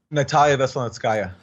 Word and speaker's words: Natalia Veselnitskaya: Natalia Veselnitskaya.